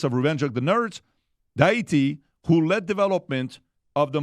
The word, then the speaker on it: Deitke: I'm going to pronounce the last name properly. I didn't say I said Deitke.